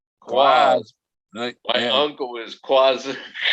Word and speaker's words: QAZ: Quaz? Quaz.